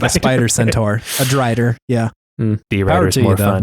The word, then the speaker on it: drider: Carnassus, that spider elf creature that has the magic lantern, is that pronounced a D-rider or a drider? A drider. A drider. Because I just saw D-rider the whole time.